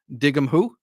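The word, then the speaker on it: an dtuigeann tú: But if you wanted to ask someone if they understood something in Irish, you'd say dig 'em who.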